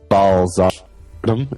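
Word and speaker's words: Bthardamz: Like Blackreach or Balzardum, as it's pronounced in Dwemer.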